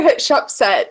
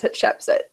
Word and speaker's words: Hatshepsut: No, he calls her Hatshepsut, and her name is Hatshepsut. Right, okay. So but it's like, it's pet. The important thing is it has to rhyme with pet in the poem.